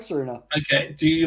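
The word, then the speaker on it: Tsareena: Serena. Yeah. I think you say the T though. Tasarina.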